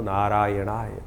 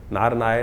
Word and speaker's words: नारायणाय: करने का प्रयास करें मंत्र का उच्चारण बिल्कुल सही होना चाहिए कई बार लोग मंत्र का जप करते करते थोड़ी सी गलती कर देते हैं नारायणाय नारायण नारायण नारायणाय नारायण नाराय नहीं है नारायणाय ओम नमो नारायणाय